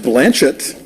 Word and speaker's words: Blanchett: do you know Kate Blanchet I know it's pronounced Blanchett oh she said so on Ellen did she